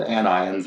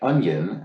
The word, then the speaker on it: anion: know to be called anions and cations because uh let's see here hugh crank says chris please read anion is not pronounced like onion as i pronounced it ambien it's pronounced an